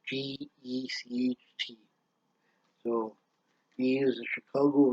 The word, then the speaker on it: Gecht: I don't know how you pronounce his name. It's Gecht.